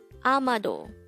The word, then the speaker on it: 아마도: hangout word number 151 amado amado this is pronounced as a three-syllable word the first syllable is a second syllable is ma and the third syllable is do pronounce it with me